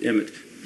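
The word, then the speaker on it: אמת: Another thing for truth, in Hebrew, the word for truth is emet. It's spelled aleph mem tav, or A-M, Z, it's T, but emet.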